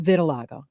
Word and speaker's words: vitiligo: So it's pronounced vitiligo? Vitiligo.